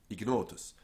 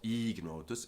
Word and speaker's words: ignotus: cases of the vowel before GN are actually pronounced short. Agnus, magnus, ignis, dignus, ignotus, not ignotus, dignus, ignis, magnus, and agnus, which, if you